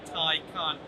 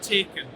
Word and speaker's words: Taycan: It's the new Porsche Taycan, and yes folks, that is how you pronounce it, Taycan, not Taken, although this car does have a very particular set of skills.